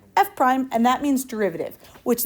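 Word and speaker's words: f′: How we pronounce this right here, F apostrophe, what we say is F prime.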